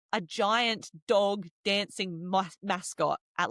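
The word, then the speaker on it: mascota: the word for pet, it's mascot. Mascot. And this word is what we would call a false friend word because it sounds like the word mascot in English, but it means pets.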